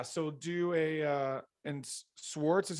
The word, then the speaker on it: Swarts: sweet um yeah so do a uh and swartz is how you say your last name yeah